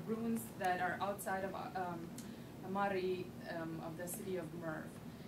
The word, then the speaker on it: Mary: Many of you probably have seen it and call it Mary, but we actually pronounce it as Mari.